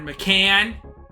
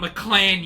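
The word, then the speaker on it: McCann: Jordan McLean just scored Jared mccan not mlan you dick said it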